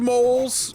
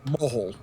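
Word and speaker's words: mohel: dude moles normally do do rabbis normally use Chinese hook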